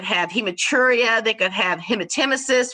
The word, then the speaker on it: hematemesis: hematuria they could have hemotemesis which is the correct way to pronounce vomiting blood hematemesis they could have epistaxis